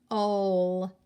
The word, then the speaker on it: pole: O is going to say their name. E is silent. So if O is saying his name, the word is pole.